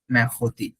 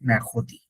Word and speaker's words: mercredi: ওকে, বানানটা কিন্তু সহজ, দেখেন। মে, এম ই আর, মে, সি আর ই, খো, ডিআই। এখন বলতে পারেন কিছু তো মিললো না, কিছু মিলতেছে না বানান। এম ই আর তো ম্যার হওয়ার কথা ছিল, বাট